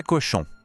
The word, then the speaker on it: cochon: Em francês, le cochon. Assim como em chien, lembra? O segredo está no som nasal final em chon.